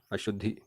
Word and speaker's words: अशुद्धि: जब हम अशुद्धि शब्द का उच्चारण कर रहे हैं तो द का उच्चारण पहले हो रहा है और ध का उच्चारण बाद में हो रहा है। तो यहाँ पर शुद्ध प्रयोग होगा अशुद्धि।